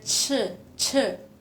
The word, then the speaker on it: 吃: Ini dibaca ce, kayak mulutnya tuh harus kayak ce.